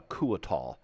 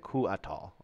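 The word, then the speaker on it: Couatl: I would call it a Cuatal. I always pronounce the C-O-U as a O-O. How they say it, Cuatal.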